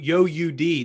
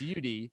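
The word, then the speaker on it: Youdee: it's just you d so it's spelled y o u like you and d-e-e so it's ud with the interlocking ud in the middle so a lot of people would go yo ud and that happened a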